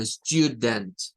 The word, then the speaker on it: student: Tiene dos sílabas, Miren, la primera sílaba está compuesta por esto que está acá, que es la sílaba tónica, y la segunda sílaba es esta, que solo es el sonido ent, de la N y la T.